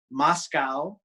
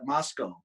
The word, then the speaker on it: Moscow: Like we have a Moscow, but we call it Moscow. It's spelled Moscow, and that's where the University of Idaho is.